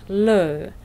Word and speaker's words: lieu: the 26th of August Koda today's word is Lou Lou has the same pronunciation as Lou but l o means toilet